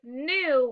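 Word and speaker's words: knew: This word is new. What's the word? We spell new. K N E W. Don't forget that K. It is silent, but don't forget it.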